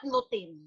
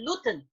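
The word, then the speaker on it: lutein: it on tv sabina but it's not looting how do we pronounce it when we want to sell a product we sell it with uh the correct pronunciation so it's it's not nothing it's actually gluten gluten is our eye vitamin and in this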